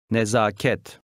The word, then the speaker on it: Nezaket: The stress is on the last syllable. Nezaket.